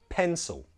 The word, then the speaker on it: pencil: Say it with me one more time, pencil. Also, did you notice the L sound? If you watched the last lesson, that's a dark L, and we can change that to a W sound.